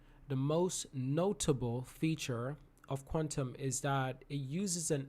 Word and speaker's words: QTUM: quantum so it's actually the word is actually q t u m but it's pronounced as quantum it's a hybrid blockchain